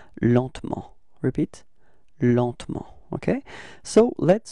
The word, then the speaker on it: lentement: And then, well, usually in French, we don't really pronounce this E between T and M, so we get this pronunciation lentement, repeat, lentement, okay?